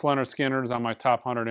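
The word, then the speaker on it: Lynyrd Skynyrd: Pronounced Leonard Skinner is on my top 100 imprint analog records list you should own.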